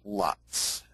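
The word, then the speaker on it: LUTs: And in Hollywood, I find it's pronounced Lutz.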